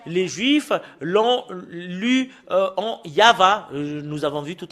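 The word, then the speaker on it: יהוה: Et le fait de le lire selon la Sainte Écriture hébreu, c'est Yava qu'on le prononce. Et vous ne pouvez pas faire une discussion et le contredire que c'est Yava.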